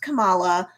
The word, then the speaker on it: Kamala: hurt she's all like no no no it's pronounced kamala you know and he's like oh okay so